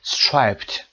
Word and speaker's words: striped: striped رو صدای دی رو ببینید در تلفظ pronunciationش اینجا آورده ت. به خاطر وجود پ ما این دی رو باید ت بخونیم. striped و نمیشه هم دی خون، خیلی سخت هست.